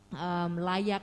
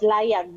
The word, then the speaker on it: Layag: Layak, do I pronounce it correctly? Layak? Yes, Layag. Yeah, it's Layag.